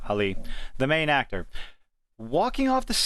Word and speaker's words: Ali: of the movie, Mahershala Ali, I said his name wrong, Ali, the main actor, walking